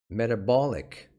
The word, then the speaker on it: metabolic: Metabolic. Metabolic. Please pay attention to the pronunciation. This one is metabolic. This one is metabolism.